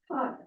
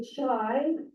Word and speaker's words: chi: This word is pronounced chi. Do not say chai, do not say chi. Do not say any of those other things that you might want to say. It is called chi squared.